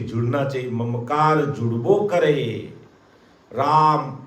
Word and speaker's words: राम: राम राम रा बोलते ही खुलता है और म बोलते ही, इसलिए हमें बराबर राम नाम का उच्चारण करना, पूरा राम बोला राम राम राम राम, इस प्रकार इसका रटन करना है।